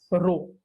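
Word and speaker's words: ρ: इसका pronunciation RHO कहना है, रो।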